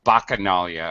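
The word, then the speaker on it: Bacchanalia: You everything was perfect except I've normally I hear the god bakas or bakanalia. A strong uh k sound on the ch.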